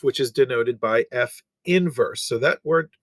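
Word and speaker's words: f⁻¹: that we've not seen that is not pronounced f to the negative one that denotes f inverse and that is how that is uh pronounced so what they're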